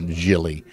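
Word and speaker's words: Gili: how he pronounces it I think it's Jill Jilly g-i-l-i but I think he's uh Israeli and that's pronounced uh Jilly so anyway um I'm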